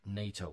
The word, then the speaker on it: NATO: say the letters however in this case we say it like a word nato we don't say nato uh but this is an exception the elysee tenet the